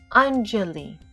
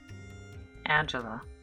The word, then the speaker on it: Anjali: actually pleaded the cashier modern what's your name anjali huh spell it a n j a l i the cashier chuckled and tossed a plate in front of anjali angela anjali suddenly heard one of the older boys